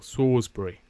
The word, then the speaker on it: Salisbury: it wasn't it was actually Salisbury um okay pronounce sbur okay cool sawbury sawbury uh Mana says ring of salt sound